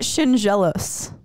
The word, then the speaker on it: Schendzielos: pronounce it is it shinos that's pretty much it okay it's like um if you were to say the the D and the Z if you say like a j so Shin jealous like